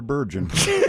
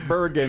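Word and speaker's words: Candice Bergen: because you called her burgon Bergen yeah in your review today we're going to have that's a broken heart she's a legend it's Bergen she is it's he's right uh rhymes with Virgin okay biggy nine candy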